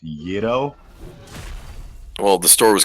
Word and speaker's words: gyro: in college called eurogyro that's why i've always called them gyros it's uh it's pronounced yeto well the store was